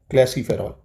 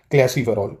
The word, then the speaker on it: calciferol: क्लैसीफेरॉल। Spelling लिख देता हूँ, क्लैसी, CLAC नहीं, CALCIFEROL।